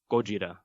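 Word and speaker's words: ゴジラ: become the seed for gojira the gojira of course being the japanese pronunciation which is transliterated as godzilla in english and just so you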